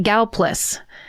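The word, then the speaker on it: Gallipolis: Local just locals just call it Galas.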